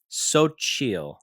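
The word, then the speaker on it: Xochitl: And then right under that it says pronounced Sochil. So, these are Sochial is the brand.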